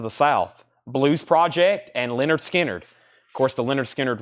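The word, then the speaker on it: Lynyrd Skynyrd: on sounds of the South Blues project and Leonard skinnard of course the lyard skinnard records on that label are very collectible that's the first Leonard skinnard pronounced and the second one those are very collectible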